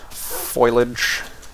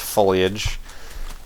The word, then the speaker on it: foliage: flat and devoid of any shrubberies of any foilage if you will yes I know it's pronounced foliage people are running to the comments it's not